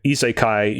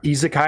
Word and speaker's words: isekai: But weirdly enough, we've not really seen like the isekai genre penetrate the video game landscape outside of like visual novels based off of isekai anime and such.